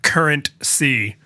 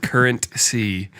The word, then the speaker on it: CurrentC: right so let's we have to talk about current c which i'm like forever going to pronounce is two words with a pause in